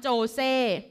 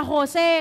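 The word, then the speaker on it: José: ค่ะ ณ เมือง นี้ ไม่ อ่าน ว่า สาร โจ เซ่ มัน เป็น ภาษา แฟร์เนส ค่ะ อ่าน ว่า ซาน โคเซ เออ ค่ะ โฮ เซ่ ค่ะ ใน แคลิฟอร์เนีย เนี่ย กัน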